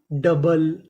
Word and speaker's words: double: यहाँ पे जो OU है उसका उच्चारण हमें नहीं करना, तो पूरी meaning कपल। DOUBLE डबल, डबल।